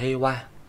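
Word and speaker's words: 平和: Đọc là heiwa, tính từ đuôi na chuyển thành cộng với động từ phía sau thì chuyển na thành ni.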